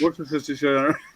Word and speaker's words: Worcestershire: See, I can pronounce that word. Worcestershire sauce. Worcestershire.